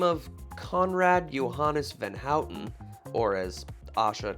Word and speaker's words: Johannes van Houten: 1828 a man by the name of conrad johannes van houten or as asha correctly pronounces it johannes von hauten thank you created the first cocoa powder producing